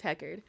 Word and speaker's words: Heckard: so I'm on Instagram it's what the Hecker but it's spelled listen w t h e c k a r d because my last name is Hecker um also where else